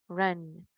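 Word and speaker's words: wrong: Rider equivocado o incorrecto dices Run Esto está incorrecto o You are Run tú estás equivocado muy parecido a correr Let's go Run let's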